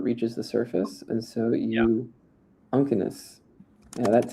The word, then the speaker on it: uncinus: And here's some cirrus uncinus. What is that? How do you guys think we pronounce this? Uncinus. Uncinus.